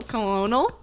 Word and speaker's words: Colonel: Colonel Yeah, Sanders.